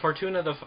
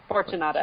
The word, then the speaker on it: Fortunata: Well, Fortuna is it Fortuna? Fortunata. Fortunata is how it's pronounced in the audiobook, yeah.